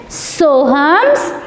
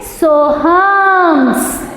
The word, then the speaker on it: Soham's: इसे हम क्या रीड करेंगे? सोहम्स। क्या रीड करेंगे? सोहम्स। सोहम रीड करेंगे क्या? नहीं। क्यों? क्योंकि यहाँ एपोस्ट्रोफी S दिया हुआ है, इसलिए हम इसे क्या रीड करेंगे? सोहम्स।